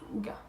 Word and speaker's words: hygge: Vous allez me dire, oui mais pourquoi tu dis Hygge alors que c'est écrit Hygge? Ça s'écrit Hygge, mais on y prononce Hygge.